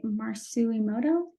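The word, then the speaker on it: Masaru Emoto: a clip of um the Water Crystals by marcelimoto and that's how you say it um this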